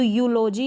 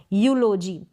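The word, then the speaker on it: eulogy: तो यूलॉजी आपने इसको प्रोनाउंस किया। यूलॉजी क्या प्रोनाउंस किया? यूलॉजी। ई यू को पढ़ा यू और इस स्पेलिंग में भी देख सकते हैं यूरोप में भी ऐसे ही होता है।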